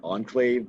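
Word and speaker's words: Ankhlave: saying it right enclave so it's like enclave the word e-n-c-l-a-v-e but it's spelled like a-n-k-h-l-a-v-e and what does the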